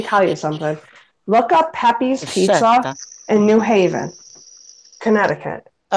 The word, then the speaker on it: Pepe's: Poppy's Pizza? Spell it. Pepe's, Pepe.